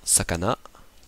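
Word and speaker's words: 魚: le cheval uma le cochon bouta le poisson Sakana la grenouilleou le renard kits le BL tanuki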